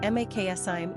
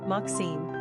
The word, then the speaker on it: Maksim: Pronunciation, Maksim, English, Maxim, Russian.